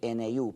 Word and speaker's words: GNU: modernas es decir el sistema operativo se escribe gnu pero en español se pronuncia New en inglés Good en español New es más